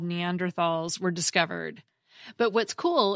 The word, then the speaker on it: Neanderthal: I said Neanderthal, but it is actually pronounced Neanderthal, or even Neandertal, which is the first pronunciation at the Merriam-Webster